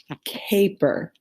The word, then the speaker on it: caper: Cap is a one syllable word, but when we start to add more to it and it's long vowel, it's K, per.